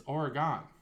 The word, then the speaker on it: Oregon: would ever be envelope it's just like Oregon and or Oregon there's no a in there there's no